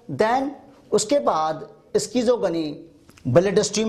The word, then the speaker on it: schizogony: Human body में जो Plasmodium का साइकिल हो रहा है उसे कहा जाता है स्कीजोगनी, मगर कुछ लोग स्कीजोगनी की प्रोनाउंसिएशन शाइजोगनी भी करते हैं.